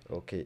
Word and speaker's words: Au: Alors, je m'appelle O, ça s'écrit AU.